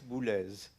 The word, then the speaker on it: Boulez: Well, it will not surprise you maybe, but that's Bles. Okay, so now pronounce it right.